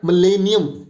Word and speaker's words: millennium: So let's go with the pronunciation for this particular word, and the pronunciation for this word is millennium. Hope you all have written millennium.